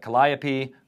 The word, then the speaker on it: Calliope: So there's Hitch, there is Calliope.